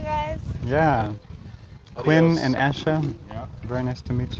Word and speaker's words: ASHA: and Asha. Yeah. Very nice to meet you. Asher. It's Asha. I'm so sorry. Oh. It's not common. That was close. See you later. ASHA is the acronym for the professional organization associated with my career.